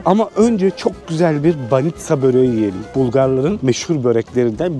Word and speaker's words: banitsa: Dedim abi gelmişken baniçka diye, banitsa diyorlar. Burada ama halk dilinde baniçka diye söylüyorlar. Yanlış telaffuz etmediyse abi.